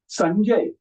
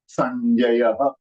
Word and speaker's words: Sanjay: So rule number one, the Anuswar above Sa will disappear. Nahi lagega. And then, accordingly, the J belongs to Cha Varga. So what is the red angel of the Cha Varga that we see? So here, it does not have a sound.